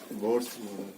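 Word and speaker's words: Bohr: Next लिखिए भाई, बोहर्स model of atom, बोर्ड्स। ठीक है, इसमें एच साइलेंट होता है, फिर भी किसी को मन करे खींच दीजिए, मन करे तो साइलेंट कर दीजिए।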